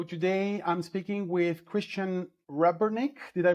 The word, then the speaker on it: Rebernik: So today I'm speaking with Christian Rebernik. Did I pronounce this correctly?